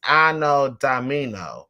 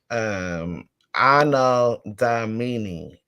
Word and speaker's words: Anno Domini: Yeah, AD is Anno Domino. Anno Domino, I believe. I know I'm trying to pronounce it right with these pronunciations. It's crazy. Anno Domini.